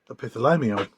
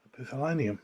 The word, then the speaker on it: epithalamium: I'll show it to Darren and see whether he can pronounce it better than I. Epithalamium. I was right then. Yeah. Fair enough. It starts with an epiphany, so I bet. Yeah. That's right. Epithalamium.